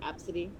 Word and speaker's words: ABCDE: I know there's a popular name going around, and it's spelled ABCDE, and it's pronounced Absidy.